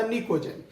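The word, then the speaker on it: pnictogen: ये थोड़ा साइलेंट होता P, ये कहलाता निकोजेन।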